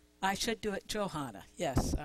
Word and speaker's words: Johana: And is that pronouncing correctly? I should do it Johanna.